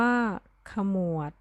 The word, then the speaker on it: ขมวด: คำ ที่ 1 คำ ว่า ขมวด อ่าน ว่า ขมวด ผงาด อ่าน ว่า ผงาด สมัคร อ่าน ว่า สมัคร